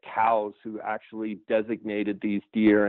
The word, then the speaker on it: Coues: to say two s and it's cou es is how you spell it the actual pronunciation you are correct it was named after a guy named Elliot cows who actually designated these